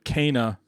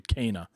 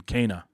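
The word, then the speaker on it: Kena: two shows it's actually cana like abel and k for people who are familiar with the bible abel and kane right and just just put an a at the end of kane kana that's that's the connect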